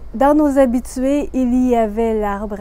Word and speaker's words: il y avait: « ya » et si c'est à l'imparfait « il y avait » on va faire « y avait ».